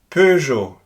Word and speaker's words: Peugeot: In French, you find it again in words like feu. Again, Peugeot, feu. There's no real equivalent, so it's very difficult for me to explain what to do in order to pronounce it right.